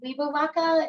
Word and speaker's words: Webauwaca: pronounce the name of this? Yeah, I'm not even. Yeah, I got it. It's called Webauwaca.